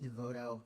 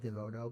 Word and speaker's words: DeVoto: I gave this talk a few previous times, and I would start it with a pronunciation note saying that the main male character's name is not pronounced DeVoto, but DeVoto.